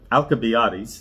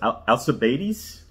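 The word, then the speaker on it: Alcibiades: pronounced the guy's name I was going to call him alab alabais that's how I always knew him as uh but I guess the correct way is alabes alabes in English alabes alabes in that's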